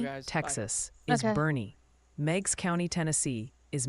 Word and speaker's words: Boerne: Bernie.